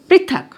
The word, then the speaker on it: पृथक: ठीक, उसके बाद है प के नीचे प्री, थ क, पृथक।